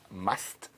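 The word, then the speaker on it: musth: in a heightened hormonal state called must. And it's spelled m u s t h.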